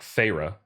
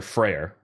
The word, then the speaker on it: Feyre: on in the novel and calls her like Feyre, did I know that that's how you're supposed to pronounce her name.